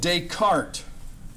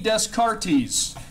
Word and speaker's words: Descartes: Well, let's talk about a guy by the name of Descartes. René Descartes, not René Descartes. Although that's the way it's spelled, that's not the way the French guys would say it.